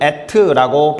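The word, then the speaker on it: עת: 본문에서 때라고 번역한 단어 히브리어 원어로는 애트라고 발음되는 단어입니다.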